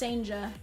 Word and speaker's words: Sanja: No, Banana, I want to say he's from, like, the Netherlands. I think it's a Dutch name. But yeah, it's pronounced Sanja.